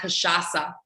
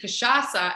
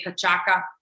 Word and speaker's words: cachaça: And he literally spelled it out with a little cedilla, which is that little thing underneath the C that makes it a soft C and not a hard C.